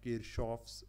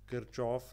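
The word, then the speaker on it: Kirchhoff: एशन बनी हुई है किरचॉफ लोग पढ़ रहे होते हैं ठीक है किर कोफ पढ़ रहे होते हैं लेकिन यह जर्मन नाम है तो यह एक्चुअली प्रोनाउंस होगा किरश ठीक है अब हमारे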